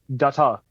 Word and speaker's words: Data: Hey, how do you pronounce data? Data.